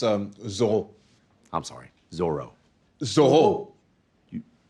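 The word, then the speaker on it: Zoreaux: be feeling anec goalie give it up to zoro oh it's pronounced um zol i'm sorry zorro this is a whole you i don't know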